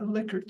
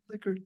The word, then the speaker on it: Likert: Notice I've used the name Likert. That's the way he pronounced his name. People who don't know any better call it Likert. You know better now. It only has one K, but it's not Likert.